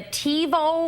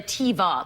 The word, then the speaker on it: TiVo: Oh, last night the TiVo or the Tiva, like they always call it the Tiva. Well, that's the feminine pronunciation of TiVo.